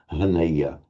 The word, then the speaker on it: haneya: So it's a bit alien for us for native English speakers to pronounce it as a voiced H, but that was how it was done. Haneya, Haneya.